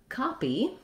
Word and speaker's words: copy: Then when we look at copy, we also have an E, first syllable stress, and an unstressed quick tense E at the end.